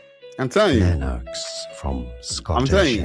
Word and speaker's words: Lennox: Well, mainly for you, but like I said, I know it's Lennox, I know it's Lennox because that's how you pronounce that word or that name, Lennox.